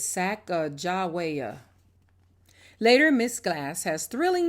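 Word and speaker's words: Sacajawea: has a fancy name saka jawia you say it like this sack jawaya later miss glass has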